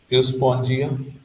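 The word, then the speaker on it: Euspongia: देखो ये यूज यूज यूस्पोंजिया, यूस्पोंजिया पढ़ेंगे, यहाँ ई साइलेंट है, इसको बाथ स्पॉन्ज, ये पोरीपेरा वाले स्पंज जैसे दिखते हैं।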